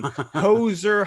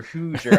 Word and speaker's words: Hoosier: Indiana has a tourism campaign, Hoser Hospitality. Hoosier. I knew I was going to mispronounce that.